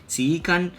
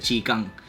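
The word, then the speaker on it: 紙巾: tissue paper in Cantonese, and he said ji gan, but that time I did not know how to say it. So I think I said ji gang.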